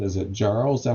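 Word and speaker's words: Jarro: last name is it Jarl is that how you pronounce it it's like arrow with a J in front of him J okay and it's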